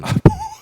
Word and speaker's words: 보완: 거냐 이거 가지고 그걸 정확하게 발음을 안 알아두시고 보완 수사라고 하시는 분들 있지만 보완 보완입니다. 보완 보완 보완에서 미비한게 있으면은 보 보충에서 완성한다는 보완 이거를 보완이라고 생 생각하시면 예 그거는 아니고요.